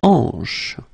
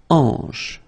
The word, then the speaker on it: hanche: La hanche. La hanche, remember, H here is not pronounced, so you get the sound en, hanche at the beginning.